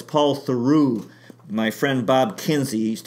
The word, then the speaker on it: Paul Theroux: I keep mispronouncing his name, Paul Theroux. It's Paul Theroux.